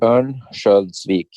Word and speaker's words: Örnsköldsvik: Örnsköldsvik? Yeah, close. Örnsköldsvik.